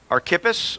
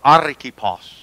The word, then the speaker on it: Archippus: Our beloved friend and fellow laborer, to the beloved Aphia, Archippus, or Archippos. That's how I heard one guy pronounce it, Archippos. Take your pick.